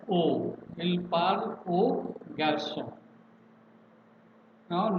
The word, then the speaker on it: aux: It is pronounced as O.